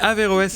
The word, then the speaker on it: Averroès: Averroès et Rosa Parks, c'est juste comme j'ai prononcé? Oui, Averroès et Rosa Parks, c'est juste, c'est le nom